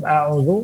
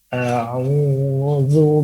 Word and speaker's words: أعوذ: Maka ketika pengucapan huruf a'udzu, mulut kita juga melebar. Jangan a'udzu billahi minasyaitonir rajim. Ini hanya terfokus lagu. Nah, maka kita lebarkan. Tapi lebarkan. A'udzu billahi minasyaitonir rajim. Nah, jadi ada pelebaran.